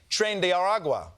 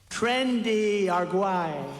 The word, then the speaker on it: Tren de Aragua: how ICE has been rounding up any immigrant who they suspect is a member of the Venezuelan gang trend aragua or as Trump pronounces it trendy aruay muen sor presidente but